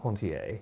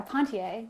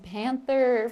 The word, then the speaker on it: Ponthier: Thank you. Ponthier. Yeah, Ponthier. Ponthier. Yeah, thank you Okay.